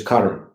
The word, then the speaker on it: karma: the last two workshops karma i don't like to put the a on the end because that's a an a that's an english expectation the true pronunciation is cutter and it means action